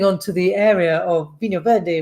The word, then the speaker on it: Vinho Verde: And that's moving on to the area of Vinho Verde, which we'll talk about, or Vinho Veg. I can't remember exactly how the guys pronounce it. It's really funny. Vinho Veg. There's a lot more jizz than you think there should be.